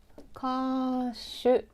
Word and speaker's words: 歌手: 歌手。